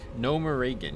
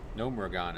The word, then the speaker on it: Gnomeregan: Gnomeregan is what I would always say, but I guess Gnomeregan is right.